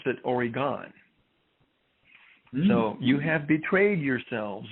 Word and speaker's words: Oregon: from from oregon because if you're from oregon you pronounce it oregon you don't pronounce it oregon so you have betrayed